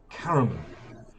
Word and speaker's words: Caramon: i would say that you're going to be playing caramond this time but the audio narrator absolutely insisted it's caramel and it just throws away the last syllable uh so so whichever